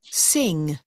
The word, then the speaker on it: sing: Mình đọc là sin hoặc là sun. Ok không nhá? Âm này có chữ g, chữ n và chữ g cuối cùng thì mình mở miệng khi đọc giúp cô này. gần giống chữ ng của tiếng Việt nhưng nó không phát âm ơ nhá.